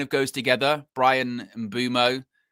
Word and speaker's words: Mbeumo: It's Bryan and then I don't even think they use the M. I think it's just Boumo.